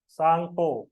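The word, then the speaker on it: Tsangpo: तिब्बत में जब हम सा बोलते हैं तो उसमें अपने आप आधा ता हो जाता है। सांगपो। ठीक है, सांग इसको आधा ता बोलते हैं। सांग नहीं है, दैट इज सांग। उसमें ता आप बोल ही नहीं पाओगे।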